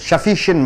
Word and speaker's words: sufficient: sufficient money என்றால் என்ன? போதுமான பணம் இருக்கிறது. sufficiently பார்த்துட்டீங்க. இப்போ நீங்க பார்க்கிறது sufficient. இந்த இஷ்ஷுக்கு அர்த்தம் கொடுக்கணும். sufficient. sufficient. ஷின்ட்னு சொல்லக்கூடாது, என்னுக்கு அப்புறம் டி வரும்போது டீயை உச்சரிக்க கூடாது.